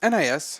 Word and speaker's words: NIS: the next story um how do you pronounce it nice or nis nis okay it's nipponichi software okay